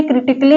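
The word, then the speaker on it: critically: फिजिकली यहां पर देखिए क्रिटिकली में तो यहां पर देखिए आई सी ए डबल एल वाई यहां पर ली बोला जा रहा है ये साइलेंट है क्रिटिकली बोला जा रहा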